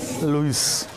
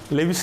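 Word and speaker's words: Lewis: लुइस। लेविस नहीं बोलना, because ई क्या रहता है? साइलेंट रहता है।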